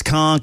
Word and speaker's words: conch: Look, for all of you though, it's conk.